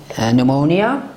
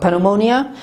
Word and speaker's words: pneumonia: حرف N و S قرار بگیره ما را تلفظ نمیکنیم مانند pneumonia, not pneumonia, and psychology, not psychology.